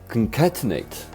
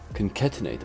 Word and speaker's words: concatenate: If you for Christ's sake, how do you pronounce this word? Why have I never... What? Concatenate. Concatenate.